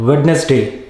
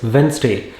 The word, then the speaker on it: Wednesday: international students often mispronounce it is not wednesday it is wednesday our next class is